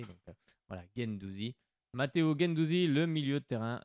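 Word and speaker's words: Guendouzi: l'OM game Douzi voilà j'ai bien le prononcer parce qu'on vient de me reprendre pas le prononcer donc voilà gaine Douzi Matteo gain Douzi le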